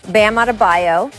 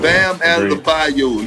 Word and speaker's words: Bam Adebayo: He's followed by Gobert, Giannis, Bam Adebayo.